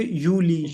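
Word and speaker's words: Juli: यूनी यूननी यूली यूनी और जुलाई को कहेंगे यूली यूली ठीक है यूली ऑगस्ट या और अगस्त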